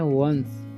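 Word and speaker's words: once: ऑल एट ठीक है वंस इसे पढ़ते हैं वंस वन से नहीं बढना एज दे हैड जैसे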